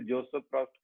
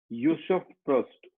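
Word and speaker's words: Joseph Proust: Discover किया था, ये हम अपनी लैंग्वेज में इसे जोसेफ प्रॉस्ट कहते हैं, लेकिन उनकी लैंग्वेज में, जहाँ के ये फ्रेंच भाषा में इसको अगर बोला जाए तो इसको यूसुफ प्रॉस्ट इस तरीके से प्रोनाउंस करते हैं।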